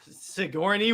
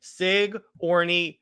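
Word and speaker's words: Sigourney: can't pronounce her name seori Weaver thank you Sig I'll tell you what I'll do it slowly Sig Orie and then Weaver I'll just call a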